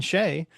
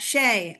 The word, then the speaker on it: Che: So, I thought, well, I'll get Liz cross and we'll get to the mystery and the root of the story behind Sheay and ask him if he's ever been channeled in this way before.